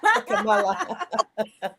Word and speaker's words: Kamala: It's His time, and as her beautiful nieces taught us how to pronounce her name, Kamala.